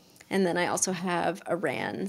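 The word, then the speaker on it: Aran: then I also have Iran so or Aaron weight it's Aaron I can't pronounce things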